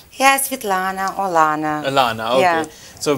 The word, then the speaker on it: Svetlana: Is that the right pronunciation? Yes, Svetlana, Alana.